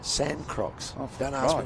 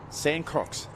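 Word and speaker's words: Sancroix: a good energy yeah sand crocs sand crocs sounds like something you'd wear on the beach it does how do you spell it again becca yeah uh s a n c r o i x it's got a throw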